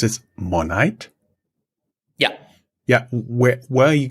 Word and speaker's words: Monite: Where is, you pronounce it Monite?